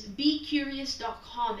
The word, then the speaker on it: beqrious: It's Be Curious, but it's not curious as you should spell it. It's curious with QR because of QR codes.